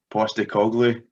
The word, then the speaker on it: Postecoglou: Let me see if Go I on, pronounce it then. Postecoglou.